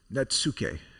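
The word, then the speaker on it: netsuke: It's a form of Japanese wood carving, which is, how do we pronounce it, guys? Natsuke.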